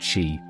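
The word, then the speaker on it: Sidhe: Closely related to the Tuatha De Danann, the Side, pronounced she, are among the oldest fairy beings in Celtic folklore.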